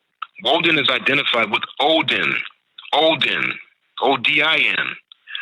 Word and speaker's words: Woden: Wednesday represents Woden's day from Germany, Woden, W-O-D-I-N, Woden. Woden is identified with Odin, O-D-I-N.